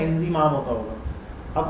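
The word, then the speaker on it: Inzamam: मेरी नाम की सही, इंजमाम, आई एन जेड ए एम ए एम, बहुत सारे लोग इंजीमाम लिख देते हैं, आई एन जेड आई एम ए एम, ठीक है, इंजी से उनको लगता है इंजीमाम होता होगा।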